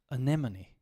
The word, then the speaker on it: anemone: silent another one here just following the phonetics anemone anemone okay anemone again you see the ER all over the place here anemone anemone it's okay if you say anemone that's not going to change too much okay